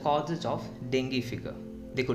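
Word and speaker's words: dengue: Blank the causes of dinghy fever. देखो डेंगू लिखा जाता है बट इंग्लिश में जब आप इसको प्रोनाउंसिएट करोगे वहाँ पे डेंगी बोला जाता है।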